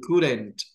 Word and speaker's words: couldn't: Or couldn't. Couldn't. Couldn't. Couldn't. No me vayan a estar pronunciando cool y couldn't. Eso está mal. La L no se pronuncia.